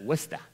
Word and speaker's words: Worcester: Mass you pronounce it westa if you pronounce it westa they won't think you're a flatlander and uh anyway we